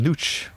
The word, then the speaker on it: Nooch: first would like to wonder, what is the name Nooch? Does it have any significant meaning? It does. I'm glad you pronounce it correctly. We've had Nooch or nose or Nooch. Yeah, so all kinds of pronunciations.